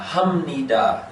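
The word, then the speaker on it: 합니다: into it now uh hum nida is what we hear so what do you think that syllable is right right is what it sounds like okay and it sounds like this okay but it's not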